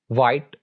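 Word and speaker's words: white: एच के बारे में रूल्स ये हैं कि एच इज not pronounced व्हेन it comes after W, यानी जब भी एच लेटर डब्ल्यू के बाद आएगा तो इसको प्रोनाउंस नहीं किया जाएगा। मिसाल के तौर पर वॉट, वैन, वाइट, विसल एंड वेट। तो यहां पर चूंकि जो लेटर एच है वो डब्ल्यू के बाद आ रहा है इसलिए हम एच को साइलेंट रखेंगे, एच को प्रोनाउंस नहीं करेंगे, बस डब्ल्यू को प्रोनाउंस करेंगे।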